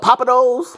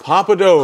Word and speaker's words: Pappadeaux: thank you um um how you pronounce it Papados Pappadeaux Pappadeaux Pappadeaux's in Atlanta okay yeah yeah I'm